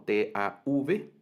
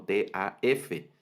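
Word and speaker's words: תו: T-A-U, y en otras va a aparecer como T-A-V, ¿verdad? Y en algunas aparece como T-A-F, Tau, Tav o Taf, es la misma letra, ¿verdad? Entonces, solo es un tema ahí de variante de pronunciación de eso.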